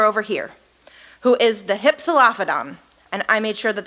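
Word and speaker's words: Hypsilophodon: about this dinosaur over here who is the hypsolaphadon and i made sure that that was going to be pronounced correctly so the hypsolaphadon was a smaller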